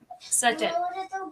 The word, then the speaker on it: subtle: So it's not certain it's subtle. Subtle. Ah perfect. Okay. So the emphasis is on the t sut not o s.